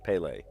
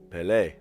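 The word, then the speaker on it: Pelé: Ple was almost 18 years old apparently. Ple. Everyone in Brazil revels Ple. Just cheers for him, you know. Well, he's dead now, but everybody knows Ple. Pelle.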